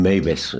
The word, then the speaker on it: Meiwes: prometer a Martin Meiwes, creo que la W se pronuncia V en alemán, bueno, en fin, Meiwes, Martin Meiwes, cualquiera lo